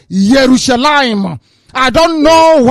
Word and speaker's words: Yerushalayim: hebrew for your information there is no jerusalem the name is yerushalayim i don't know how